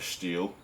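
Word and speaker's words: Stihl: don't you just buy a steel that's the proper pronunciation Steel or a Husqvarna why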